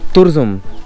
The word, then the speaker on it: Turzum: মতো রাস্তা যেটা এই তারজুম না অ্যাকচুয়াল অ্যাকচুয়াল প্রোনাউন্সিয়েশনটা হচ্ছে তুরজুম মানে এখানে এসে সেটা জানতে পারলাম তো তুরজুম বা তারজুম এরকম সামথিং কেউ তুরজুম বলছে কেউ তারজুম বলছে তো